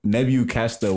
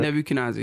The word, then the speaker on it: Nebu Kiniza: You got me all insecure about how I'm pronouncing it. Nebu Kasta what? Kiniza. Oh, you were way off. I know, right? That was funny. That was very funny. Nebu Kiniza, right? Nebu Kiniza, yeah.